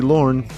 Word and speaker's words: Lorne: If it rhymes with born, then it must be Lorne.